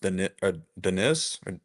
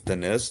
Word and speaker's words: Dennis: I was thinking through the Dennis Jenkins, which I guess apparently it's pronounced Denis. Yeah, I think it's Denis Jenkins.